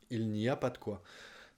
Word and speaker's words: il n'y a pas de quoi: Il n'y a pas de quoi. Notez qu'on le prononce il n'y a pas de quoi.